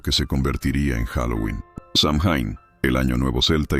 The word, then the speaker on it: Samhain: El Samhein pronunciado Soin, era una de las